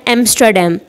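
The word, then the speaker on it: Amsterdam: यहाँ पे फिर आर जो है वो साइलेंट है, और इसको हम बोलते हैं एम्स्टरडैम।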